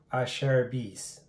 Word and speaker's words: Acerbis: a google and uh it's supposed to be pronounced i share a beast so uh cher and bees so i sherbies so this is the asherby's x factor handguard i